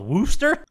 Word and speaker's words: Worcester: Well, it's like, you know how that town around Boston is Westchester? Worcester. And it's called Wooster?